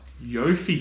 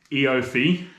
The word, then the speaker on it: EOFY: should just call it what yo fee sale what the hell is a yopy sale oh like as in say it like eofy it's an eof sale